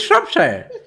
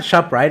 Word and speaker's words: Shropshire: It is Shropshire. It's not ShopRite.